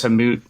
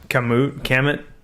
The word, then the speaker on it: Kamut: Kamut. Two things. First of all, there's like, I've wondered that. How do you say that? Kamut?